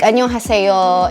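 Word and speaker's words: 안녕하세요: Like annyeonghaseyo, it's not annyeonghaseyo, it's annyeonghaseyo. You know, may difference yung sa bibig mo.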